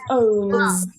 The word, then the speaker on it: owns: Another example is owns. Owns. There's vibration.